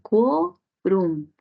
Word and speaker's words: quórum: Quórum, grave, que termina en M, lleva tilde.